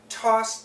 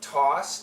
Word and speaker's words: toss: those goods had been tossed down now this is a phrasal verb tossed down similar sounds just connect toss down this is an A W sound not an O not TOS down toss down so you